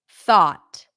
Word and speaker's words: thought: hold on good tough thought now we mark this with the a as in Father this is how would